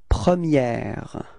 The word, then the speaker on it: première: Okay, so don't be afraid to insist a little bit. Première. Okay, pronounce it quite correctly, because if we don't, if you don't, then I will understand the premier. Okay, so that's the only way to make the difference between the masculine and the feminine.